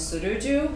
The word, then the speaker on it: Tsuruju: And so, yeah, the pronunciation of his first name is Tsuruju.